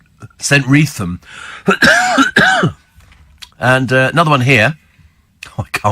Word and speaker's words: Streatham: Steve, I've heard Streatham pronounced Streatham, says Dan. Yes. So it's St. Wreatham.